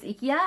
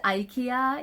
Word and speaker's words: IKEA: bought these at ikea japanese pronunciation is ikia and the american is ikea yeah so i went